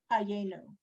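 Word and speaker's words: חיינו: Don't Ha- forget to put, don't forget to pronounce the little yud. It's a Y sound. hayenu.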